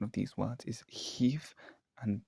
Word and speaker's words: hiv: So for example, some examples of this are aunt, arth, near, also Now, the correct pronunciation of these words is Heath and Bev, which I didn't get quite right in the video.